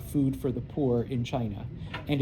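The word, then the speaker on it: Qing: Um the Manchu uh come from Manuria and that is the I know it's spelled q i n g but it's pronounced chin.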